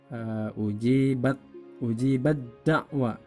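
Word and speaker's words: أُجِيبَت دَّعْوَتُكُمَا: Ini dibacanya ujibat da'wa. Ta-nya hilang, masuk pada huruf dal.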